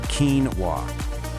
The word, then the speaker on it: quinoa: If you were following normal English rules, you might guess something like quinoa. But nope, this word actually comes to us from Spanish, which got it from the Ketwa language. So, we have to play by its rules. So, the correct way to say it is quinoa.